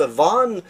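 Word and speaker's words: Vaughan: Vogan ça se prononce ça se prononce van mais ça s'écrit Vogan la T c shot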